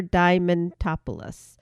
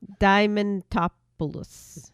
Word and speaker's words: Diamantopoulos: And the other voice actor for Mickey right now is Christopher Diamantopoulos.